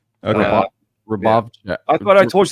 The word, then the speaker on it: Hrubovcak: It's Hrubovcak though. The H is silent. Okay. Hrubovcak.